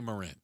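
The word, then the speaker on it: Morin: Uh, Agent Marin, I hope I'm pronouncing it right. It's M O R I N. I would say Moren has been with the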